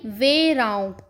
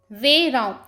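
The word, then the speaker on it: verão: Summer यानी वेराऊ। वेराऊ। तो जो हमारा वेराऊ है यानी समर सीजन है वह ब्राजील में दिसंबर से मार्च तक रहता है।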